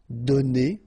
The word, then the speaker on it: donnés: So the good news is that you don't pronounce it, so donner, okay? So whether it would be without this final es or with S, you will pronounce it the same way.